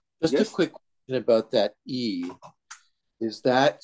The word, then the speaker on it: 易: The transliteration with the alphabet is Y and I at the fourth tone, but the Chinese don't pronounce the Y.